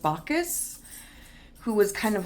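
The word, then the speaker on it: Bacchus: this is the god I think it's pronounced bakus who was kind of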